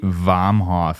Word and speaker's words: Vomhof: On today's episode, we have Nate Vomhof here.